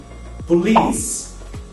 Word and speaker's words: police: Via de regra, a vogal E no final das palavras não é pronunciada, mas muitos brasileiros pronunciam